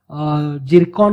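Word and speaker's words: Tsirkon: Missile, ज्याचं नाव किंवा ज्याचा प्रोनाऊन्स असा जिरकॉन असा त्याचा प्रोनाऊन्स होतो, मात्र स्पेलिंगमध्ये त्याच्या टी आहे. ठीक आहे, झेड नाही आहे, पण जिरकॉन असा त्याचा प्रोनाऊन्स होतोय. हायपरसॉनिक क्रूज मिसाईल आहे, ज्याबद्दलची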